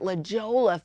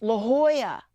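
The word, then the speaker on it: La Jolla: to check out Leola we were calling it Lola for the longest time come to find find out it's really pronounced La Hoya I mean who knew you're supposed to pronounce J's like h's not in Boston I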